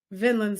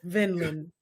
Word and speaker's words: Vinland: to me would be vinin Saga vinin Saga Vinland Saga Vin Saga nope Vinland Vinland I said I said Vinland you said vinyan I said vinin you said Vin Lin